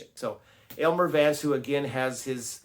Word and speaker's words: Aylmer: It's not Elmer, it's Aylmer, Aylmer Vance, and his associate go